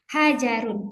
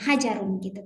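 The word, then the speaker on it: حجر: Hajarun. Kita sudah sepakat untuk membaca tashkil huruf terakhirnya. Meskipun hajar betul seperti itu cara membacanya. Namun pada proses pembelajaran kita berusaha untuk membaca tashkil terakhirnya hajarun gitu kan.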